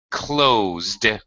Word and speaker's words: closed: We have a verb with the voiced sound at the end. We just add the D consonant sound.